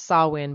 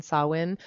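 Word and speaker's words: Samhain: ancient celts is called sawin it's pronounced sawin but it's spelled s-a-m as in mom-h-a-i-n sawin and its roots can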